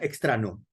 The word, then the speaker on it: Extraño: En inglés se pronuncia extrano, para hacer juego de palabras con el ano, ¿no?